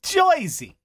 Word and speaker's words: Jersey: Like, if you're going to fake a New Jersey plate, you can't spell it G-O-I-S-E-Y. Even though that's how half the state pronounces it. Joyzy.